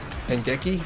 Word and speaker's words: Hangeki: I think the target demographic will really enjoy Hangeki, there you go, that's how you pronounce it.